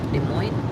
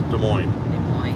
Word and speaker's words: Des Moines: it's a french name you don't pronounce the s is silent so this is des moines it's like illinois it's